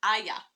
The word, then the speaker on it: Aijā: by the way guys it's pronounced Aya yeah yeah okay so